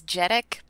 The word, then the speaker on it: Jhereg: There is a pronunciation guide in the book. I don't think people would really, really need it. It's Jhereg.